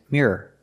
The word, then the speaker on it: mirror: The second word is mirror. The second one has 2 syllables, no matter how fast you say it.